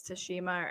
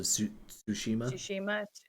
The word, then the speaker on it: Tsushima: to start ghost of i don't know if it's tashima or how to say it it's a tsushima yeah i have that